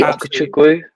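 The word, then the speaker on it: Ugochukwu: Leslie Okechukwu, yeah. I got absolutely roasted because I pronounced it like someone else in a YouTube video. It's a Chelsea guy. I thought, oh, he's got it right. And then I tried to listen to it on Sky Sports. It's quite a hard one to pronounce. I got absolutely roasted for it. But Chikwu, is that how we pronounce it?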